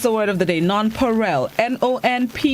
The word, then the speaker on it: Nonpareil: been pronouncing it improperly some of us have been saying non-parallel but it's non-perel all right good morning